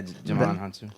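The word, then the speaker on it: Djimon Hounsou: Digimon Hansu. Is that how you say it? Yeah, Jamon Hansu.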